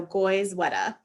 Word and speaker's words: Goizueta: new york would say sweater so goyzweta is how you say it so hopefully that resonates